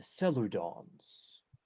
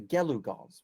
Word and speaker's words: Gelugons: And here at the South, the Seludons, no, the Gelugons, because I've been saying it wrong in the previous.